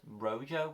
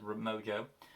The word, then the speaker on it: Rojo: Moving on to the episode known as The Alliance, which is also, I believe, the villain is Rojo. I mispronounced it as Mojo.